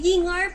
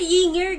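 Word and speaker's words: Ying'er: Ay, Yingar pala yun! Oh! Hindi siya Yinger, guys! Yingar! I've been pronouncing it wrong all these days.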